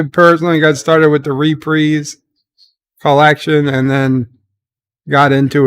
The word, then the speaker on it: Reprise: his later years um his reprise and that's the way he pronounced it his reprise versions of